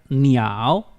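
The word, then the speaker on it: 鸟: pronuncia más y esta pájaro que se pronuncia ni ao y está por último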